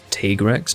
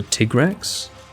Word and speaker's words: Tigrex: to me so yeah t-rex no that's awful that's not right it's either tigrex t-grex t-rex or do you mean that's probably what you're trying to say phonetically tigrex that's what it's